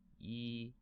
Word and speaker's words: 一: on a piece of paper like this e yi yi yi don't be shy you know talk